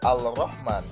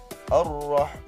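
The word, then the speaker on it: الرحمن: diikuti huruf ro terjadi langsung bacanya tidak al-rahman tetapi Rohman contoh yang kedua as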